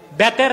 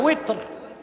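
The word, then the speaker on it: وتر: তারপরে আবার 3 রাকাত বেতের না উইতর, এই উচ্চারণগুলো শুদ্ধ করতে হবে। আমাদের দেশে মৌলভী সাহেবরা বলে বেতের, বেতের না উইতর, সালাতুল উইতর, বুঝলেন?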